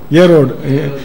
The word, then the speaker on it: Herod: Israel நாட்டில் இப்போ ராஜாவாக வந்து இருக்கிறாரு யாரு, ஹெரோட் மன்னர். ஹெரோட் மன்னர் வந்து ஹெரோட், HERODன்னு தமிழ் இங்கிலீஷ் தமிழ் உச்சரிப்பு இல்லைங்க சரியா, ஏரோடு ஈரோடு மாதிரி இருக்குது சரி, ஏரோ ஏரோடு போங்க சரி.